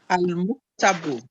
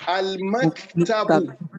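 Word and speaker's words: المكتب: There is nothing in Arabic language as al-muktabu. It is al-maktabu.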